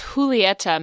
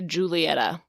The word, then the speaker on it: Julieta: name her name is Julieta Madrigal so a lot of people say Julietta that just isn't uh her name it's it has a j but the J is more of a h